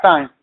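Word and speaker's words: τιμή: t i m e en el griego sería yo lo digo como se dice en inglés meo que se dice Time o se escribe te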